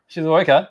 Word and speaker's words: Shizuoka: Shizuoka?